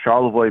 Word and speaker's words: Charlevoix: Charlevoix, Michigan, 1997. It's spelled weird.